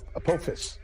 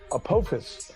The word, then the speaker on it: Apophis: It's going to be named Apophis. Pardon me, I mispronounced it. It's going to be, let's start that again, erase. It's going to be named Apophis after the Egyptian god of chaos and